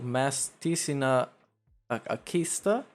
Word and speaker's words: Masticina Akista: Good midday to Masticina Akista. Yes, that's exactly how it's pronounced.